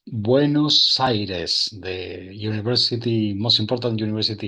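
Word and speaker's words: Buenos Aires: It's Buenos Cyrus, the university, most important university here in Argentina. Buenos Iris is the pronunciation.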